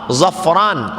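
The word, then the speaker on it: ظفران: Kalau pakai huruf d, zafran, orang yang beruntung. Kalau pakai zai ain, zafaran, minyak wangi.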